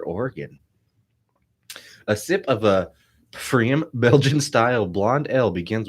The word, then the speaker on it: pFriem: It's Pfriem. Freem. Freem. That can't be The right. P is silent. It's like pneumonia.